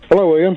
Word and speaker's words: Iain: Hello, Ian. Hello, Martin. Ian Wright. A lot of people like... No, it's Ian.